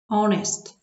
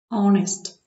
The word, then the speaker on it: honest: Але є винятки, коли на початку буква H не вимовляється, немає звука Х. Our. Honest.